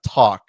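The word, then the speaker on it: Tack: I think it's pronounced uh talk T A C K for those listening who can't uh can't see the screen.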